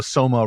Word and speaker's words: soma: drugged state but also Soma rhymes with coma so there's a lot